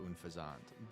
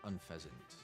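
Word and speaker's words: Unfezant: Pit of I don't I don't really be with pit of s or unfazant. By the way, it's pronounced unfazant, not unfasant if anyone was wondering.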